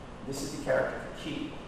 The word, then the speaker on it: ki: This is the character for key. It's spelled K-I, but it's pronounced K-E-E, as in key turning a door.